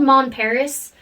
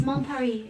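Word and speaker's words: Mon Paris: mom puppy mom it's it's spelled mom Paris but it's mom Perry and seriously seriously like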